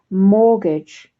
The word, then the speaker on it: mortgage: that's a difficult word mortgage fraught now it's a silent t there not mortgage but mortgage mortgage fraud law and order